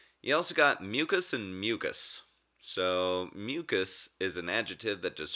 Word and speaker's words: mucous: You say it the exact same way.